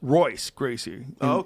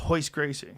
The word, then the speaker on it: Royce Gracie: It starts with an R. It's Royce Gracie in English. but because he's Brazilian, it's Portuguese. And they pronounce the R and H, so it's Royce Gracie.